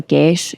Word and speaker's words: geis: in Irish magic of like what's called a geis. It's spelled Geis.